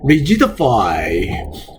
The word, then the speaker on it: rigidify: 그 다음 단어 rigidify. R-I-예요. rigidify라고 발음이에요.